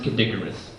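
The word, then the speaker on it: Kid Icarus: that the sequel on the game board it's pronounced kidicarus shut up nerd uh no seriously that is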